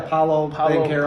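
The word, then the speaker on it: Paolo Banchero: I will say, okay, so how do you pronounce his name? Paleo Banchero or something? Oh, yeah, Paulo Banchero.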